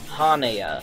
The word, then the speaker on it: Hana: in the English translations his name's Hana Hana not hanamura that's another character's name Hana I said it wrong my mistake anyway these guys